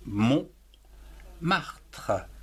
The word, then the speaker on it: Montmartre: Donc, Mont, M-O-N-T, Mont, Martre, M-A-R, Mar, T-R-E, Tre. Montmartre, en trois syllabes.